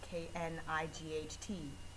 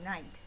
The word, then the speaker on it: knight: Like in night, K-N-I-G-H-T. We don't say knight, we say night, so the K is silent.